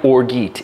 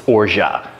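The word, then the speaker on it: orgeat: with it and yes even though it's spelled like orgeet it's orja at least I think so unless Americans love to mispronounce French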